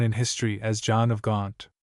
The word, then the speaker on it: Gaunt: history as Jon of Gaunt. This word Gaunt was the nearest approach that the English people could make in those days to the pronunciation of the word Gent, the name of the town where Jon was born.